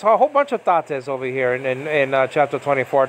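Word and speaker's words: τότε: a whole bunch of tates over here in chapter 24. Tate spelled out T-O-T-E, or tau, nowadays called tough. Omicron, nowadays called omicron. Tau, epsilon, the acute marker is on the first syllable.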